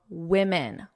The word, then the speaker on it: women: I want you to notice my pronunciation. One woman, woman, woman. Two women, two women.